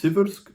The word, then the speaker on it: Siversk: And by the way, I really ask all analysts and commentators in Russian. The city is Severk. The river is the Civki Donets. That's how it's spelled.